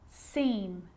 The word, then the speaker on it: scene: Muscle, scissors, fascinate, scene, scenario. So that's the silent C.